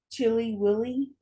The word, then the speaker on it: Chili: We start off in Rochester, New York, And we're going to the town of Chile through its, though it's pronounced Chili Willy, where in 2009, 17-year-old Britany Drexel wasn't was not having a great time of it.